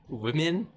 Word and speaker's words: women: You actually pronounce this differently. Pronounce this word like this. Women.